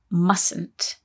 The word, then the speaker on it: mustn't: must not ice though when we say mustn't there is a silent letter in there isn't there that's right